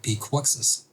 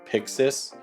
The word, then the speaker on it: PYXIS: This is the new Blackmagic PYXIS. I think what I'm going to do is essentially have to trick it to say PYXIS correctly by just typing out phonetically sounding way of PYXIS, P-I-X-I-S.